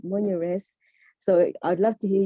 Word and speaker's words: Monyaress: so yeah sorry um so as i said monia res so i'd love to hear you as well have a go at pronouncing it because it is i had a